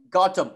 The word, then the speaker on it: Gautam: Gautam.